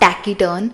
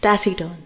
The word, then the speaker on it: taciturn: word we have taciturn it's not tacky turn it's tacy turn we have is diffident